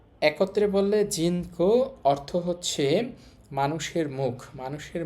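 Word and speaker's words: 人口: আমরা দেখতে পাচ্ছি এখানে এটা হচ্ছে মানুষের কাঞ্জি, তো এখানে উচ্চারণ হবে জিন, আর এটা হচ্ছে মুখের কাঞ্জি, মুখ হচ্ছে কো। একত্রে বললে জিন কো অর্থ হচ্ছে মানুষের মুখ।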